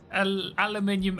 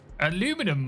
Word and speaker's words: aluminium: We all know how aluminium only has 1 eye. Aluminum might, but aluminium doesn't.